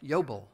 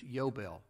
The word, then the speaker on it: yobel: how it sounds jubilee the hebrew word yodel yobel yobel there are no bout there are no vowels in the hebrew language but it's yobel we would spell it y-o-b-e-l yo bell ju bill